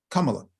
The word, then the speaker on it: Kamala: Yeah, Kamala. Kamala. That's how you pronounce her name.